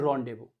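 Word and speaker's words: rendezvous: रॉन्डेवू का जो pronunciation है वो थोड़ा सा अलग है, क्योंकि ये वर्ड जो है वो फ्रेंच वर्ड है, इंग्लिश का नहीं, इसलिए इसका प्रोनाउंसिएशन भी थोड़ा अलग हो जाता है।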